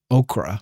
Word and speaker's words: ochre: Okra. I've heard that. If there was a W in here, we'd just be going crazy. Okra. Oh, it's pronounced like okra. English is so weird.